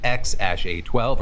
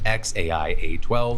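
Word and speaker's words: X Æ A-12: And then this name, which depending on whether you ask Grimes or Musk, is either pronounced X- A12 or X AI A12, followed by Exa Dark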